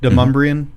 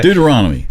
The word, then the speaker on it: Deuteronomy: Deumbrean. See, I say it wrong. He still struggles with it. I'm probably saying it wrong. Anyway, Deuteronomy.